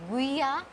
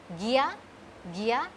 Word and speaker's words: guía: Like this is it is not guia telefonica, it is not guia telefonica, it is Gia telefonica, Guia, it is not guia, it is Gia, we will not pronounce this U.